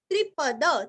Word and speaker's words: त्रिपद: त्रिपद, त्रिपद त्रिरस्व, त्रिपद यहाँ का द भी पूरा पढ़ना है और द के ऊपर आघात।